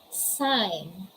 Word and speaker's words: sign: case you don't pronounce the letter g letter g is muted letter g is silent what are the examples these are the examples the examples are design foreign sign nash align we also